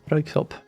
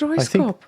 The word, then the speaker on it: Röyksopp: Röyksopp. Roysop? What? Röyksopp. Royksop? Röyksopp. I always thought that it's Royskop.